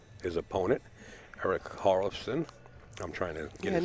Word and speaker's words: Hjorleifson: His opponent, Erik Hjorleifson.